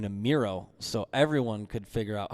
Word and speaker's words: Mireau: go to uh youtube and type in miro and the last name is spelled m-i-r-e-a-u okay that's what i wanted you